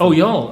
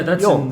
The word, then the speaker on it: Youghal: Youghal, I think. Oh, Yule. Oh, yeah, that's Yule, okay. Yeah, it's in Cork. Well, that's 40 years of mispronunciation, correct?